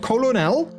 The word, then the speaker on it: colonel: do you say colonel but you spell colonel and you don't spell current and but like a popcorn kernel you do actually spell as k-a-r-n-a-l right so like that is that is also like it's spelled Colonel to say colonel it doesn't make sense what's up with that